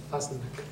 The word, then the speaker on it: Fasnac: Me dice el doctor que su apellido se pronuncia Fasnac.